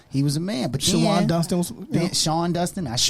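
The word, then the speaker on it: Shawon: Shawan Dunston is how you pronounce it. Can't spell Can or someone read. look it up, please? I guarantee you. Nope. Whatever. Sean Dunston was dope.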